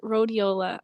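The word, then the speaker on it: Rhodiola: it one more time so it's riola I'm probably saying I'm probably saying it wrong too I say everything wrong but that's okay it's fine it's RH o d i o l a okay I have that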